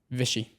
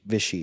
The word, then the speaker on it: Visci: How do I pronounce the last name? Visci. Visci.